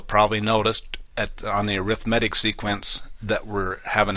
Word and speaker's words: arithmetic: it looks like the word arithmetic but it's pronounced arithmetic and then geometric sequences we if we have